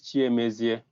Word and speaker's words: cnMaestro: Well, I don't know if I can pronounce this name, but it's. Let me help you. It's cnMaestro.